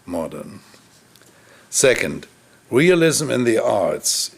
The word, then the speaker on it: modern: Affection for Modernity, and place the accent on the first syllable than rather on the second, and say modern, which in German means to mold or rot, rather than modern instead of modern.